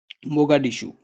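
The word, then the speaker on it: Mogadishu: federal Republic of Somalia capital का नाम आप याद रखेंगे मोगा डिशू मोगा डिशू इसका कैपिटल है स्पेलिंग लिख लें आप एम ओ जी ए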